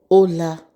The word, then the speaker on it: hola: The h is silent. The h is never pronounced.